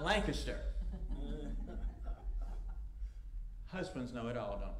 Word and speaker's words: Lancaster: going to ask them, how do you say the name of this place? And you're going to find out, it is not Lancaster, it's not Lancaster, and it certainly is not Lancaster.